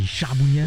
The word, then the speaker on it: charbougnat: Beaucoup étaient charbonniers, prononcé à l'auvergnat, a fait charbougnat, ou le surnom bougna.